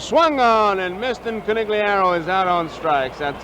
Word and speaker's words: Conigliaro: up tony c tony conigliaro all right bob shepard says it corneliaro here's a pitch swung